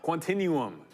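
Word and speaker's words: Quantinuum: Quantinum.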